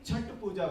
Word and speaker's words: छठ पूजा: अभी मुझे तब जाके अनुजा ने बोला उसको छठ पूजा नहीं छठ पूजा बोलते हैं, because I have been always reading it in English. So CHHAT, I was pronouncing it as Chhath Puja instead of Chhat Puja.